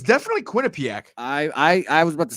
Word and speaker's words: Quinnipiac: pitch against Quinnie pack oh no it's definitely Quinnipiac III was about to say I said it was Quinnipiac last time and you keep saying it's definitely Quinnipiac you're right like now that I'm looking at